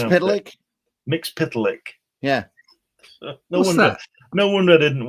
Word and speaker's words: Mxyzptlk: How do you pronounce it? Mxyzptlk.